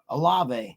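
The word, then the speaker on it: Olave: you watch sports center they pronounce it right all the time yeah alve alve eight receptions 107 yards no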